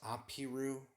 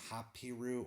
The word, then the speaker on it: Habiru: It's also, it can be pronounced Apiru or Hapiru or Habiru, but it's very clear who it's talking about.